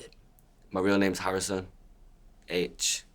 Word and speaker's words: Aitch: H, like the letter H, H.